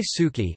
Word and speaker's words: สุกี้: Thai suki, known simply as suki, Thai, suki pronounced su, ki circumflex in Thailand, is a